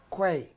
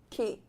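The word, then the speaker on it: quay: Okay, our first word is Kwai. key.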